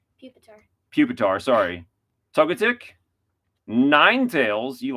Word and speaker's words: Pupitar: How do you pronounce that? Buasel. Sure. It's almost like a weasel, but it's weasel. Okay. Puppetar. Pupitar.